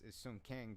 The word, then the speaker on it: Sung Kang: Hong Kang? Yeah. Okay. No. That's the actor's name is Sung Kang, but the character is his name is Han.